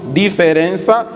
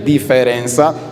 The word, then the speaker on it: diferença: Diferença, mas aquele outro E que fica depois do R é mudo. Em vez de diferença, para a dicção seria diferença.